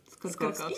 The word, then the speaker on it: Skorkowsky: My family has lived in the United States for just over 200 years, so we haven't pronounced it, the old country way in so long. That's just how we pronounce it, So which is evidently wrong.